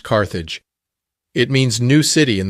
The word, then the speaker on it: Carthage: Before she parted, she named her new town Carthage, today pronounced Carthage.